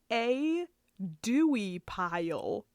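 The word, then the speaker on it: A. Duie Pyle: of the company is a dewey pile literally like it's okay it's spelled all weird like it's a dot d-u-i-e space p-y-l-e a dewey pile a dewy pile that's what kind of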